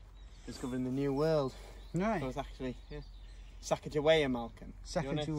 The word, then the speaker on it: Sacagawea: car we yes a second way or something Shekhar we is actually called Sacagawea I think it's named after feel like she